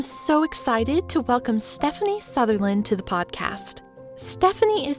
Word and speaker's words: Southerland: So my name is Stephanie Southerland, spelled Southerland, but it's pronounced Southerland.